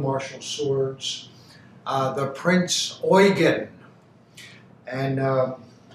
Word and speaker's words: Eugen: of the field marshall swords uh the prince oygan and it's spelled e-u-g-e-n so don't say prince eugene if you say that everybody oh they got